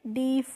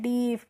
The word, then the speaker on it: deaf: अब है DEAF, तो इसको हम क्या पढ़ते हैं, डीफ पढ़ते हैं। क्या पढ़ते हैं, डीफ, क्योंकि ई और ए जब किसी भी वर्ड के बीच में होती है तो इसका प्रोनाउंसिएशन हम बड़ी ई की मात्रा से करते हैं, तो डीप पढ़ेंगे।